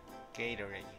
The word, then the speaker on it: Gatorade: Gatorade.